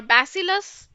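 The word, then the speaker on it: bacillus: the basus all right basus or basilis whatever you can pronounce bassilus so like bassilus anthis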